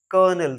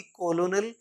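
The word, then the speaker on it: colonel: मतलब होता है गोबर नेक्स्ट कर्नल सी ओ एल ओ एन ई एल इसमें माय डियर लर्नर्स आर नहीं है लेकिन फिर भी हम इसको क्या पढ़ते हैं कर्नल कर्नल ना कि कोलोनल या कुछ और कर्नल एकय हाई रैंकिंग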